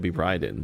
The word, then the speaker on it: Raiden: So, because it's made by Westerners, they probably didn't know how to say things in Japanese. So, his name is Raiden in Mortal Kombat. If in the real world be Ryden, but in this lore, it's Raiden.